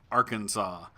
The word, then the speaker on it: Arkansas: names of course we have Kansas and then we have Arkansas which is basically spelled with like it should be Arkansas but yeah that's how